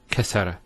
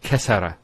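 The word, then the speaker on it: كسّر: Kassara instead of kassara. So once again, there's the kaf, followed by 2 scenes, and then the ra. So kas, skune, sara. Kassara, not kasara.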